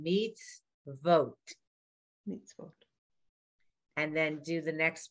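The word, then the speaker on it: מִצְוֹת: Mitzvot. It's an O. Vote.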